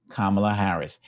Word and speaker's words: Kamala Harris: holds out her hand and she says hi kamla Harris she makes sure she pronounces her name properly for that suab be